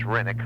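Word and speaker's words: Renwick: And the W is silent. It's Renick.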